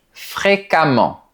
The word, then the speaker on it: fréquemment: Il se passe la même chose avec les adverbes qui se terminent par e m m e n t. La lettre e se prononce comme un a. Par exemple, il voyage fréquemment. Attention, pour les adverbes, la terminaison e m m e n t rime avec le mot diamant.